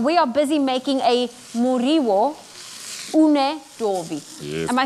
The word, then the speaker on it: Muriwo Unedovi: And we are busy making a Muriwo Unedovi. Yes. Am I saying it correctly? Yes, you are. I'm just very slow at pronouncing it.